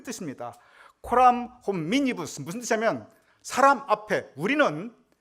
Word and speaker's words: Coram hominibus: 여러분 발음이 잘 안 되겠지만 한번 따라 해보시면 코람 호미니부스. 야, 이거 우리 라틴어 우리 굉장히 유식해졌습니다. 우리 다시 한번 해보겠습니다. 코람 호미니부스.